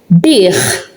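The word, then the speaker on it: bih: When at the end of a word, you pronounce it ch, but it is written akka. So when we have a word with akka at the end of a word, it is written as an akka. We pronounce it as a ch.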